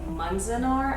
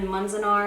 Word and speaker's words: Manzanar: It is Farewell to Manzanar, I'm pretty sure is how you pronounce it.